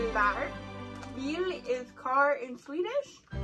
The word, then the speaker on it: Bilar: Can you pronounce it? Bilar. It's Bilar.